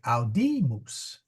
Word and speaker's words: audimus: Whereas this one is long, so we say audimus. The accent is on the mid syllable.